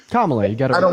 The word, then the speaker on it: Kamala: Being a service member, Kamala, what am I pronouncing it right? Kamala, you got it.